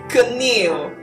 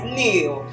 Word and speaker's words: kneel: meal meal meal not canil the k is silent so it is nil nil is to be